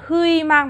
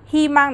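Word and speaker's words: 희망: Từ này mình sẽ không đọc là hư mang mà đọc là hi mang được chưa?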